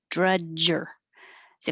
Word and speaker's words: drudgery: delayed annals annals drudgery this one you need a good jaw drudger you have to stop the airflow with your tongue touching the top drudger dread well you're making an r too so it's kind of like drudger drudger drudgery indiscriminate indiscriminately one